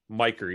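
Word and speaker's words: Micker: So Miker Adolfo, pronounced M-Y, Miker, even though it's spelled M-I-C-K-E-R, should make the roster.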